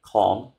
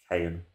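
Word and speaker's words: Caen: Right, we're back and we're now playing Con. I've finally gone on Google to find out how you pronounce their name. But yeah, Con, spelled C-A-E-N. Even though I call them Cayen or Sayen.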